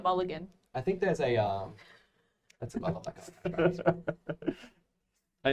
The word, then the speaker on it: mulligan: Factory Milligan go. I think in your end step, I'm going to basically land cycle. It's pronounced Mulligan.